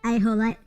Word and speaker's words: axolote: In Spain, pronounce axolote, and un Mexico pronounced the a whole. Oh, I see. Okay. So the X is silent, or it's treated like a H, at least in English, or treated as an A, like a J in Spanish. Okay, so it would be ajolote.